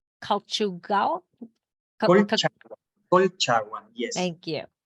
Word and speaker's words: Colchagua: And so the winery itself is located in Casablanca, but you also have vineyards in, and I'm going to pronounce it wrong, Colchagua? Colchagua, yes.